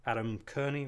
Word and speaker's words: Adam Kearney: much about my guest here, but this is Adam Kearney, right? That's the right way to pronounce it.